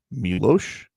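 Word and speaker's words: Miloš: Milos. It's got the S with the thing over it.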